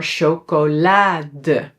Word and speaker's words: chocolade: So, here it is pronounced as a g, but in some words when it starts with the c h, say "ha", it is pronounced as how it would be pronounced in the original language.